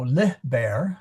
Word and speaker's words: liber: I do know that the accent is on the li, so lih bear.